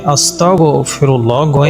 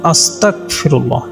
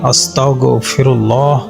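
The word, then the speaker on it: أستغفر الله: অস্বীকারকারী বানিয়ে দিন নাউজুবিল্লাহ আরবি উচ্চারণে গাইন শব্দটি ব্যবহার করতে হবে বাংলায় গ যোগে আস্তাগফিরুল্লাহ উচ্চারণ করতে হবে তবে এর উচ্চারণ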